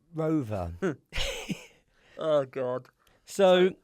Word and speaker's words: ROAVR: And the name Rover. Oh, God. So it's spelled ROAVR.